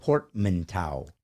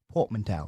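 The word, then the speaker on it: portmanteau: finally converted you onto it now let me pronounce it properly portant Tower Portman Port manow Port manow yeah okay so what port is where ships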